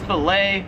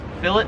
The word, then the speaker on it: fillet: Number 17 is filet or it's filet if you're American. Here in Australia they pronounce it as fillet.